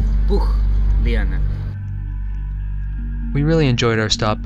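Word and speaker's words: Pucllana: The right pronunciation, for this word is Pugliana.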